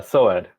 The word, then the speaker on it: Soaad: it okay oh um how do I pronounce your name properly it's I think I'm right but uh so Ed yeah yeah so I don't say it not yes you got it yeah okay I'm just